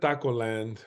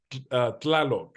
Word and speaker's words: Tlaloc: Takulek It's not Taco Land or the Taco Man. Taco It's Tlaloc. It's TL, Tlaloc.